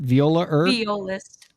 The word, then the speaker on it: violist: Again, we are chatting with Sarah Elizabeth Haynes, indie singer-songwriter and violinist and violaist. How do you say that? Violist.